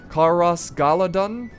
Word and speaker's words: Caras Galadhon: capital of lth lauran which is pronounced I hope I don't Slaughter it Kos galadon I think I that's what I'm going to go with that's how I say it in my head uh but it's this